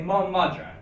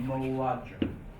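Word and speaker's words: mo mhadra: If I say Mo Madra, it sounds nicer to say Moadra.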